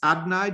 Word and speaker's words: Adonai: So Melody's written Adonai, which I'm going to pronounce Adnai, just out of respect for the name. I'm going to just pronounce it slightly differently because we only use it really if it's in a blessing or something.